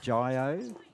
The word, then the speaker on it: Jio: I think you pronounce it Jio or J-O.